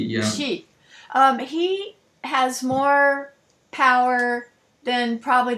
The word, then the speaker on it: Xi: Chairman Z, how do you pronounce his name? XI. It's Chairman Xi, yeah. Xi.